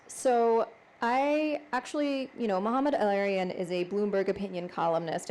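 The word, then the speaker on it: Mohamed El-Erian: I don't know if I'm pronouncing the name correctly, and you can correct me. Mohammed El-Arian? Mohammed El-Arian.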